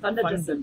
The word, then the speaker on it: van der Dussen: Van der Dussen. Dussen. Fun. Fun. So it's more of an F. Well, it's a V, which you can say use an F, but not for spelling, but pronunciation.